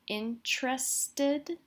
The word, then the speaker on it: interested: could say I'm interested notice how I pronounce this word it almost sounds like I'm saying T followed immediately by an R I'm interested you could also say I'm